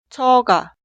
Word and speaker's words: 처가: Las dos sílabas suenan igual. 저, 처가.